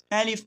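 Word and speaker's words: ا: एलिफ ना आपने इसको झटके से पढ़ना है, ना इसको लंबा करना है, कुछ भी नहीं करना है, सिंपल एलिफ।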